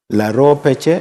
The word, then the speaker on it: Laro Peche: The other part is called Laro. This other part is called Peche.